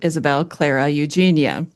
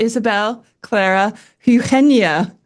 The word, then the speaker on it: Isabel Clara Eugenia: So when I read the name in my Hmm. American accent, I would pronounce it Isabel Clara Eugenia.